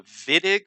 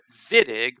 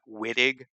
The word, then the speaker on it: Wittig: don't speak german but in german w is pronounced v so that's why we call it vitig but we spell it